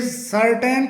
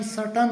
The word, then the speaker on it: certain: ऐसे ही एक अगला वर्ड है CERTAIN, जिसे सर्टेन करके बोला जाता है, जबकि इसका सही प्रोनाउंसिएशन सटन होता है, सटन।